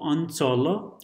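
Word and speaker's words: अंचल: So, Anchala, Anchala, it's written with a dot, but it's pronounced as Anchala.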